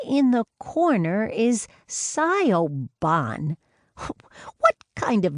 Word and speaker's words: Siobhan: in the corner is Siobhan." "What kind of name is that?" "That's her name. Siobhan," Brenna said. She had to hide her smile at Ella's frown. "It's an Irish name pronounced Siobhan."